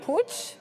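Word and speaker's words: Puig: It looks like it's actually pooch. So take that out you will. But yeah, I was saying pew yesterday.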